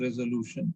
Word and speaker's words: resolution: So we need to stress on lu. So it is a resolution. It should not be like a resolution. It should be resolution.